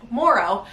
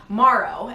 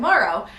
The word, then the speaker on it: Morrow: He said Morrow, and I was like, wait, how do you pronounce the last name? Like almost like it's supposed to be an A, like M-A-R-R-O-W, and he said Morrow.